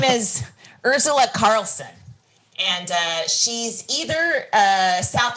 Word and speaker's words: Urzila: Yeah, and her name is spelled Urzila, Urzila, not Ursula.